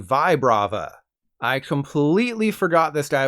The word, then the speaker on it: Vibrava: not the middle Evolution while you've been saying Vibrava like rib cage you should have been saying Vibrava I completely forgot this